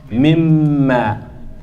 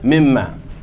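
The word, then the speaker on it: مِمَّا: And it's one of the letters where you assimilate, you don't hear the noon at all. So I pronounce this as what? Mimma. See that? Mimma.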